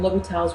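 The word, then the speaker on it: L'Hôpital: is indeterminate forms and l'hopital's rule that's how you pronounce it will be tops technically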